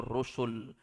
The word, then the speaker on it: rusul: Kalau setelah huruf sin ada waw, bacanya rasul. Artinya satu orang rasul. Tapi kalau datang dengan kalimat tanpa waw di tengah, rusul itu jamak, artinya rasul-rasul.